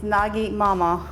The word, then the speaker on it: nagymama: And I know when you pronounce it nagymama, it sounds like an N-A-D, but it's not. It's Nagi Mama, which is made for short nagymama.